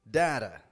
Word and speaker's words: data: about first off city data better butter notice how all four of those words have that super quick kind of t- sound city data better butter